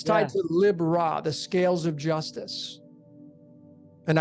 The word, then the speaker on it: Libra: You have Lib Ra. People call it Libra, but it's pronunciate Lib Ra.